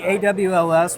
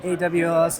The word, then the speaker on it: AWLS: right all right so is it all of the alls this is the awls we just do it by the phonetic you can pronounce the acronym yeah we just say AWS in the shop but people can call it whatever they want it's just